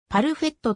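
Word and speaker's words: パルフェット: 立ち上げたブランドで当初はパーヘットと表記したパルフェっとと読みフランス語で最高に可愛いという意味を持つ鳴海が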